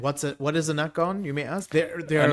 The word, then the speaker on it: Nacon: knock on right yeah not not nikon that's knack on so they i mean